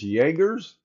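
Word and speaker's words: Jagrs: I say that it's Jagger's. Sounds like it. Well, I'm just going off Jaggermeister because it's spelled J A G.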